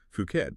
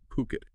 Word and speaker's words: Phuket: of property in well, what many spell is fuket, but we'll be pronouncing as puket throughout our discussion. It's uh how it's often said locally.